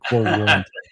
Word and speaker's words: quo warranto: By the way, I'm sure you're correct on the pronunciation, because I was pronouncing it the way that Hartman was pronouncing it. Quo warranto.